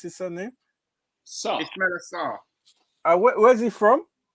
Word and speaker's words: Sarr: So, there's a question you asked, Peter, you asked earlier why Ishmael, how do you pronounce his surname? Sarr.